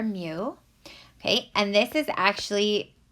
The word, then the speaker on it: mu: on us okay so if you're trying to pronounce it it's called mu it's a Greek letter okay it looks like